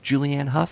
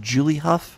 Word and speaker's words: Julianne Hough: he got julianne hough even though he mispronounced julianne hough he said Julie Hough regardless he got the